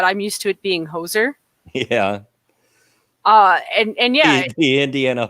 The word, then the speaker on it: Hoosier: So, and for those that don't know, Hoosier, you know, if you don't live in the state, Hoosier is what they call people that live in Indiana.